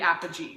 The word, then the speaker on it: Apogee: love our parody parody Apogee right yeah RG soft G um we love our